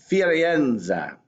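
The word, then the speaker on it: Firenze: called the frauds but in Italian it's firienza okay fine we go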